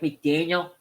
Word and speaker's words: McDaniel: I'm going to say it wrong, but Mike McDaniel, is that right?